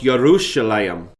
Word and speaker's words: Yerushalayim: The Hebrew pronunciation of the name of the city that we commonly refer to as Jerusalem is more accurately pronounced Yerushalayim.